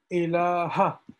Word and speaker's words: ilaha: This H, when we pronounce this, this is not to be said with the throat. It's just to be said without any kind of restriction in our windpipe, right? In our throat.